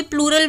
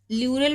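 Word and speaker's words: pleura: जाता है, जहां पे प्लूरल वर्ड यूज आ जाए ना, जहां पे प्लूरा, ठीक है। वैसे इसको प्लूरा नहीं बोला जाता, ल्यूरा बोला जाता है, पी साइलेंट होता है, इसकी करेक्ट प्रोनाउंसिएशन है ल्यूरा, ठीक है।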